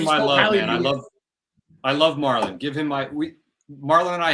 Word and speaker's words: Marlon: But yeah, is that how you pronounce his name, Marlon?